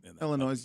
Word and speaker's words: Illinois: S is silent. Illinois.